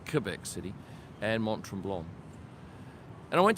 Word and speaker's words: Quebec: But I really love both Quebec City, which is pronounced Quebec City, and Montreal.